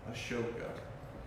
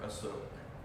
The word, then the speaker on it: Ashoka: And it really reached its height under the rule of the Mauryan Emperor Ashoka, or Asok, different ways of pronouncing it.